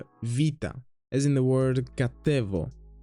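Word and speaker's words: βήτα: Then we have what is commonly known as beta, but it's not a B actually, it's more like a softer B, a V, vita, as in the word katevo, katevo.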